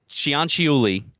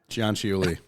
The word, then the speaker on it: Cianciulli: More commonly known as the soap maker of, how do you pronounce that? Correggio. Leonardo Cianciulli. Fuck. Cianciulli. Cianciulli.